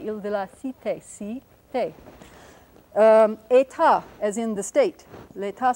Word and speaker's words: État: And here are the accents on the second syllable, so we'll put our little raised mark here. Cité, Île de la Cité, Cité. État, as in the state.